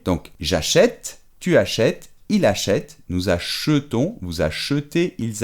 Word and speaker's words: achète: Es que en lugar de acheter, se abre la E y es achète.